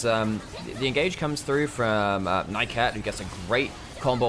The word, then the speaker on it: Nymaera: You're right, it is Nymaera.